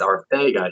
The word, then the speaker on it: Arcega-Whiteside: people that might question why people say it's Arcega, he's from Spain. And he asked for it to be said that way because apparently that's how they say it over in Spain.